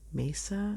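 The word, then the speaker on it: Maesa: how you say that it's m a e s a Mesa that's what I want to say cuz Mesa I don't know but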